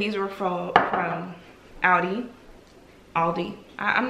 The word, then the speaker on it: Aldi: stuff i got from audi aldi let me stop butchering that where y'all correct me